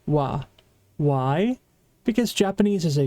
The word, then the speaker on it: は: I know it's been a while, but remember, this hiragana is ha. But when it's used as a particle, it's going to be pronounced wa.